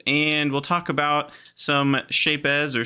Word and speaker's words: Shapez: pronounce the Z. It's satisfying for me for whatever reason.